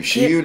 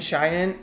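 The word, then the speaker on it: Zhiyun: Xi'an. I always thought it was Ziyun. I kept mispronouncing it. It's called Xi'an, and I was saying Cheyenne, and I feel like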